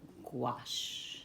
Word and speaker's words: gouache: And it's pronounced in different ways in different countries. And I even have my own little pronunciation. I like to call it gouache instead of gouache.